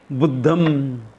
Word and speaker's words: Buddham: Be careful how you pronounce that word, not Buddha. Because I have known young people also who have known it.